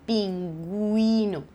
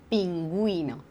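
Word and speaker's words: pingüino: ne prononce pas et s'il y a deux petits points je les prononce donc ici tu vois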